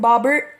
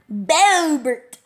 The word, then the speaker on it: Bobert: That's a weird way of pronouncing Bobbert. Bobert. Bobert.